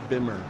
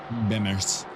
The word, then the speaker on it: Bimmer: exhaust on that Beamer Bimmer b b say it right you jez well you for those who may not know right the the motor BMW Motorcycles are Beamers the uh vehicles are bimmers bimmers yeah but I mean